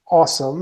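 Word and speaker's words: OSEMN: cycle very and it's it's referred to as awesome it's you it's pronounced different it is spelled differently but it's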